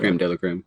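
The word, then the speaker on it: crème de la crème: Creme de la creme, is that pronounced? Yeah, creme de la creme.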